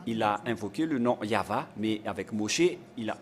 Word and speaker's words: Yahvah: a le nom de yayava qu'il a bien prononcé et pareillement avec Moché à l'époque d'Abraham il a invoqué le nom yava mais avec Moché il a en a précisé